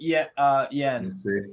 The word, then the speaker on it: Hein: It was a shot from inside the box from the Auxerre substitute Yen. Because the H is silent in front.